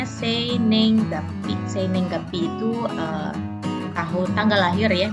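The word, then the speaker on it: 生年月日: Ini dibacanya seinenggapi.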